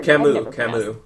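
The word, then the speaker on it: Camus: London or is it cus like I never Camu yeah C oh thank God I've never pronounced that aloud so thank you um so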